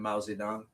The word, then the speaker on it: Mao Zedong: And in 49, Motakuto, Mao Zedong, we call him Mao Zedong. We use the Chinese pronunciation.